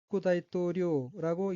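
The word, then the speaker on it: 副大統領: 넷째 줄 왼쪽 두 번째 어휘는 한자가 한국어로 부대통령이며 여기서 부자의 한자는 버금부자이고 일본어로는 후쿠다이토료라고 읽으며 후쿠다이토료는 부통령이란 의미입니다.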